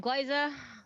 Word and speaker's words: Glyza: Hi, I'm Glyza, like Glyza Minnelli, but with a G in front. Just if you're curious on how to pronounce that.